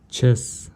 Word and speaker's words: chess: Сочетание двух букв в слове chess. То есть H и C, C и H дает звук Ч.